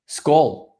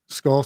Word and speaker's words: Skål: Skål. Skull. So yeah, very okay. So Skål. the Minnesota Skål. Vikings, the football team here, they say skull is like their fight cry for like their football team, their American Yeah.